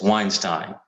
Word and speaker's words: Weinstein: to uh brett weinstein is it steiner steen i always forget uh brett weinstein it's weinstein it rhymes uh on the joe